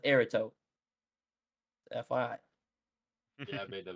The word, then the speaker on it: Eribo: And it's not pronounced Irito, it's pronounced Erito.